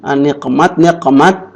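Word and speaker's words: نقمة: itu, kalau di sini niqmat, jamannya niqam itu murka amarah. Kalau di kamus Al-Ma'ani artinya siksaan atau hukuman. Jadi kalau bacanya niqmat itu amarah, siksaan. Tapi kalau nikmat itu artinya nikmat, kenikmatan.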